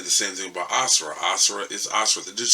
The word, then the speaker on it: Asura: Both of these giant, powerful brutes are definitely How the hell did he pronounce that dude's name? His name is Asura.